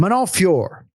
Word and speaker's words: Manon Fiorot: Manon Fiorot.